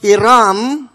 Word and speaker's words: Hiram: because in the Philippines, Karena dalam bahasa it Filipina is pronounced Hiram.